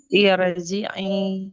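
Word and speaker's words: ارجعي: Berarti Hamzah wasal dibaca kasrah. Iya. Jadi dibacanya apa ini? Irji. Irji'i. Iya. Irji'i.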